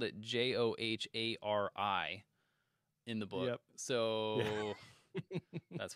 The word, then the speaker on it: Johari: in my head yeah the guys who invented this matrix their names were joe and harry okay so joe joe harry h-a-r-r-y as you would expect yeah but they call